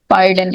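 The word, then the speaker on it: pardon: Legacy, legacy, पार्डन, पार्डन, इसमें यहाँ पर जो आर है वो साइलेंट है, जैसे फादर में होता है मदर, फादर मदर, ठीक है, पार्डन।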